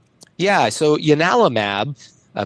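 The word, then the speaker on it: ianalumab: Um, but in I think it's Latin it's pronounced Giannis and so it's Yanalamab and it's spelled with an I instead of a J.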